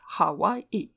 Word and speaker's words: Hawaii: The name Oahe for Hawaii had its origin in a mistake, for the island was never anything but Hawaii, pronounced Hawaii. But Captain Cook mistook the